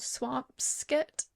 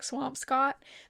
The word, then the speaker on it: Swampscott: But usually like we went to Boston last summer and we stayed in a place called Swampscott, I think is how it's pronounced. Looks like Swampscott.